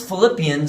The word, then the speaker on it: Philippians: Paul's heart or so since Philippians sounds like the word flip let's flip our hands